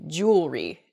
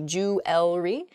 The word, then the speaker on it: jewelry: that word mispronunciation where the word kind of gets a little bit smushed together and we say jewelry instead we've missed that that second e sound in there it should be jewelry in a sample sentence